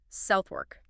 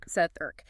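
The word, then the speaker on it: Southwark: The linguistic truth is that the stress shifts entirely to the first syllable and the W, it just it disappears or it's swallowed into the R sound. So the correct pronunciation is southwork.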